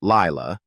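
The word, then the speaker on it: Laila: In December 2015, Bulock revealed to People magazine that she had adopted a second child, a daughter named Ila, pronounced Laya, then 3 years old.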